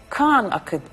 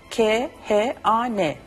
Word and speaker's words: Khan: Aynen okunduğu söylediğim gibi yazılıyor ve okunuyor. Bu adamın bir de Khan Akademi var. Yazılışını söylüyorum. K-H-A-N.